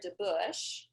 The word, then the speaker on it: DeBauch: So my name's DeBauch. I know it's a little deceiving on how it's spelled, so no worries.